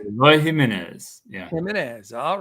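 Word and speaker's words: Eloy Jiménez: Eloy Jimenez.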